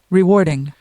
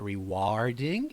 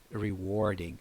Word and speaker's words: rewarding: this word because the vowel there is usually mispronounced by student so listen up rewarding rewarding rewarding it's not rewarding I hear that word mispronounced rewarding quite frequently anyways it's rewarding rewarding awesome I love hello what's what's your